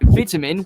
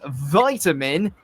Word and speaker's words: vitamin: say the word is vitamin with a small I but in the US it becomes vitamin as though it's a capital I the short I pronunciation